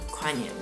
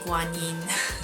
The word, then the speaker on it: Kuan Yin: and Buddhist monasteries that are actually dedicated to Quan Yin and in Mandarin it's actually pronounced Guan Yi so I'm like torn as to which version